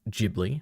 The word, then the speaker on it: Ghibli: My niece is coming up on 2 years old and loves Giblly films. Specifically, my seen a single mother as a isn't it pronounced Ghibli by the way, but true.